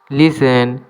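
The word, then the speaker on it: listen: the castle is বিগ লিসেন এখানে টি এর উচ্চারণ হবে না লিসেন মানে শোনা আমার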